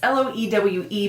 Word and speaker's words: Loewe: is I don't know, it's Loewe, but I know that it's a V sound and I always pronounce this brand wrong.